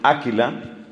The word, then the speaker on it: Aquila: Estamos en un retiro de parejas, y fue una pareja, ella se llamaba Priscila, él se llamaba Aquila, se pronuncia mejor Áquila, las dos las he visto.